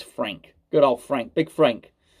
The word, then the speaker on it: Franck: The Franck Kessie one, which is, and I should say it is spelled Franck, but it's Frank.